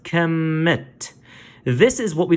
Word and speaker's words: Kemet: Kim it is that though this is Kim this is not to be pronounced Kim - this is pronounced Kemet this is what we